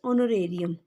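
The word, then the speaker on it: honorarium: Account में bye doctors ऑनोरेरियम, ओनो ओनो ओनो, ठीक है, ह यानी कि साइलेंट है, ऑनोरेरियम रेरियम 9,000।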